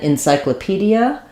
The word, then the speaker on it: encyclopedia: vowel Wikipedia and then encyclopedia encyclopedia um this e gets changed more to an i again because this is an unstressed syllable um we have secondary